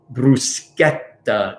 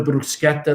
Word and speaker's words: bruschetta: how you pronounce it it doesn't make the sh sound c h e doesn't make the sh sound um so bruschetta is a hard sound